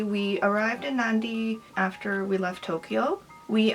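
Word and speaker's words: Nadi: was two weeks essentially we arrived so it's pronounced Nandi there's an end right here so it's pronounced Nandi we arrived in Nandi after we left Tokyo we arrived at Smuggler's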